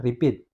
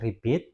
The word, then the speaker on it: repeat: yang paling bawah repeat. Yang manakah silabel stres antara dari kata repeat? Yaitu pit. Itu yang menjadi silabel stresnya.